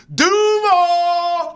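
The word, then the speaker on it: Duval: By the way, if you're a Jaguar fan, you know he butchered it. It's Duuuval. Like, it's supposed to get you hyped.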